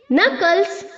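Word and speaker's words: knuckle: का के साइलेंट है नकल का के साइलेंट है क्लियर चलिए नेक्स्ट पे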